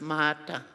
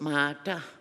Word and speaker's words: Martha: So my mom and dad chose Martha, which up in Nunavut, all across Nunavut, it's pronounced Mata. We don't have an H in Inuktitut syllabics, so it's Mata.